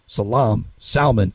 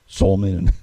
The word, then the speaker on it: Salman: Except that I've heard it pronounced Salman and Solman and all kinds of other ways from TV pundits. But I'm trying to say his name right, though. The Arabian way.